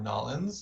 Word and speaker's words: New Orleans: After that, there's a big one in New Orleans, or Nolans, as perhaps they pronounce it.